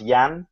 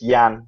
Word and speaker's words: Jan: It's actually pronounced Yan without the J in it, Jan? so just Yan will be fine.